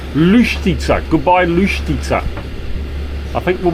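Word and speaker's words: Luštica: How do we pronounce where we stayed last night? Lustica. Lustica.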